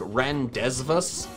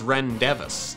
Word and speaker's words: rendezvous: It's spelled like rendezvous, but this is rendezvous.